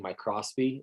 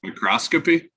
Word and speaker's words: microscopy: I don't know why I'm incapable of saying my Crosby is it's not I'm not saying it right right microscopy yes I can't add the extra P it's so frustrating um